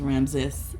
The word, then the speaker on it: Ramses: He told me it's pronounced Ramses.